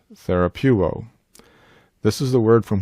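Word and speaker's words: θεραπεύω: Some students favor pronouncing this word as therapeu. Our lexicon favors reading the epsilon oopsilon as a single def thong so that it would be pronounced therapuo.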